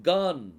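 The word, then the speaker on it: גן: அடுத்தது நூன் சோபித் அதாவது noon no இதை எப்படி உச்சரிக்கணும் கான் கான் அப்படின்னா அதுக்கு அர்த்தம் தோட்டம் ஏதேன் தோட்டம் கார்டன்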